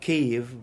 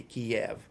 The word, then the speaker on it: Kyiv: among the reporters and anchors in the correct pronunciation of Kyiv. And it's almost unkosher to say it the old way, or if somebody wants to come across or perceived as being clueless, would still say Kiev, the Russian way.